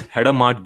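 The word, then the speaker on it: Hadamard: The correct way to pronounce the H gate is header mart gate.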